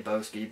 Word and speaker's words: Sobieski: I say Boski because that's just where my mind went, but it's spelled S-O-B-I-E-S-K-I. So, Sobieski maybe, I don't know.